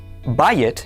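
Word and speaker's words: בית: It is spelled bait yod tav. This word is pronounced bay. Bayet means house.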